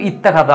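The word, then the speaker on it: اتخذ: কোনো শব্দ নেই, তখন কিন্তু এই হামজাতুল ওয়াসলের উচ্চারণ হতো, তখন কিন্তু ইত্তাখাযা আমরা এইভাবে পড়তাম।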